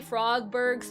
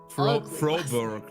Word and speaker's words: Froberg: Um, I didn't see this notes for Robbie Frogberg's first day. Well, he's Robbie Frogberg. Robbie Frogberg. That's an Froberg, not Frogber. Frober.